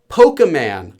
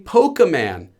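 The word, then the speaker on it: Pokémon: it to kids and in that tape they pronounce it as polka man okay they say polka man this is the variant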